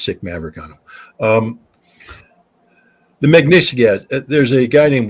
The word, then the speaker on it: Magnitsky: How do you pronounce that? Magnitsky.